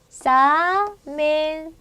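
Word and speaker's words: examen: 자 얘도 똑같은 경우죠 엑사멘 엑사멘 자 여기에 힘이 와요 제 복수로 만들었을 때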